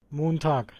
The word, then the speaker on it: Montag: Montag, Montag, Montag, Está claro que es con la K.